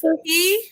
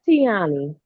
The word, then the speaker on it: Tioni: How do you pronounce her name? Because I say it wrong every time I know it. It's Tioni. Because it's Tioni. Yeah, that's Tioni.